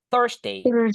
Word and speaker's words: Thursday: Thursd bukan. Tapi U-nya dibaca E. Thursday. Thursday. That's the correct one.